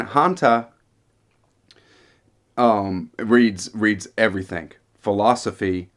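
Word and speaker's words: Haňťa: lover of literature um hanta i believe is how you pronounce his name not not too sure but it's h-a-n-t-a and hanta um reads reads everything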